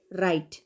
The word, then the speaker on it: right: रहे हैं okay now another one इज RIGHT राइट राइट okay राइट में भी हम लोगों ने राइट प्रोनाउंस किया तो जी और एच का तो